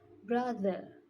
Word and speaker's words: brother: The mistake isn't in the th sound. I pronounce it as D, but it should be the.